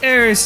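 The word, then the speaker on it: Aerith: also I called her AIS even even though at this point it's just solidly aith well Aris is closer to how it's pronounced in Japanese if you see look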